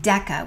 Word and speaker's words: deca: the hard k sound kilo and deca both have a hard k sound sometimes people spell Deca D CA that's okay but what you need to know is that they both have the hard k sound regardless of how you spell them let's do some examples